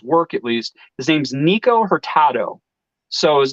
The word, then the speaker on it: Nikko Hurtado: His name's Nico Hurtado. So his name is spelled Nikko Hurtado.